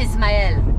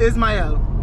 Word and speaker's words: Ismael: No, it's not it's ish. Not there's ish. No H. Okay, how you say it? It's Ismael. Ismael. Yes. That's it. That's is, it. Is, and then Mael.